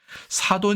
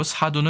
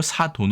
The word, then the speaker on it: 사돈: 'Sadon' 은 표준어 이고 , 'sadun' 은 비표 준어 입니다 . 양모음 은 서로 붙어야 하는 거 죠 ? ' 사둔 ' 이라 고 발음 하면 이는 양 모음 이고 , 이는 음모음 입니다 . 그래서 서로 일치 하지 않기 때문 에 ' 사둔 ' 이 아니라 ' 사돈 ' 이라 고 하는 것 입니다 .